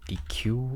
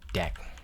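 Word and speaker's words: deque: So deck mean some people call this DQ or deck whatever but in Apple documentation is called deck uh here. So it's mentioning the pronounced deck.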